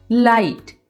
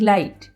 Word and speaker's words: light: और इसी तरह से नाइट, NIGHT नाइट, लाइट, LIGHT लाइट, CAUGHT कॉट। तो आप एग्जाम्पल से समझ गए होंगे कि जब GH साइलेंट आ रहा है तो उसके साथ लास्ट में T ज़रूर है।